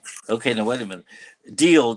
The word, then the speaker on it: Diele: Deal, but you say it like DEAL, right? Yeah. You pronounce it like that.